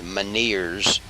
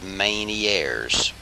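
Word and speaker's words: Ménière's: airs disease it looks like it would be pronounced 'men ears but it is Manny Aires tinnitus which means ringing in the ears Val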